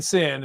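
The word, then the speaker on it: CIN: Now, we're saying sin and it's like, oh, we're sinning here. S I N. No, this is spelled convective inhibition, which is C I N.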